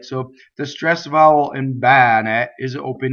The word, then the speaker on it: bene: So if you notice the B doubles, bbɛne, right? Bbɛne.